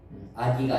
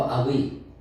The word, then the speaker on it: 악의: 있거나 악한 생각 아 이제가 발음을 잘해야 되겠는데요 악의 아기가 아니고 악의 그럼 부끄러운 겁니다 또 이것이